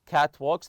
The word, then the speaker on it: catwalks: Here in the hotel in Brazil, the word catwalks, catwalks, the aisles between the hotels, the above the trees, catwalks.